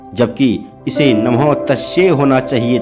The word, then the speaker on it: नमः तस्यै: वे नमः तस्यै की जगह नमः तस्मै का उच्चारण कर रहे थे।